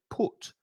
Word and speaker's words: put: is different so the first one monica said put the you is pronounced however the second one is an ah